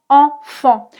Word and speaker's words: enfant: En en comme dans enfant. Ici, tu vois que enfant s'écrit n et e n mais c'est le même son.